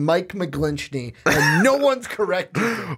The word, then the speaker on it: McGlinchey: It's McGlinchey because that's how it's spelled.